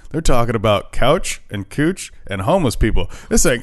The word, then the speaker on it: Couch: It's not pronounced couch. It's pronounced cooch.